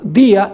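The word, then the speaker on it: διά: Es la preposición dia en griego. Día de I a. En vez de tener el acento día en la i, tiene el acento en la a.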